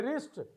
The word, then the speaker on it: wrist: two we have showed so w letter is silent in a wrist we have w is